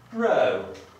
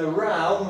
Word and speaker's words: row: Mam na myśli słówko row albo row. Uwaga, jeżeli powiemy row, mamy na myśli kłótnię. Jeżeli powiemy row, będziemy mówić o wiosłowaniu.